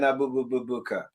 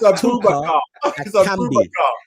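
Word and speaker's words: Aboubakar: with us lot, and you're going Abububuka. What kind of nonsense is that? Think of what you're saying. Break it down into syllables. Do you know what syllables? No, I've got it here, but I just, yeah. It's Carl. It's Abubakar.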